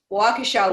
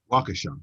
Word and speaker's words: Waukesha: You have to, just sort of wrap your mouth around those multiple syllables with weird vowels. Yeah. Waukesha.